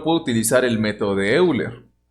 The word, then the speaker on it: Euler: Bueno, puedo utilizar el método de Euler o de Euler. No, sí es Euler, es la forma correcta en la que se tiene que pronunciar. Entonces, vamos a alternarlo, ¿no?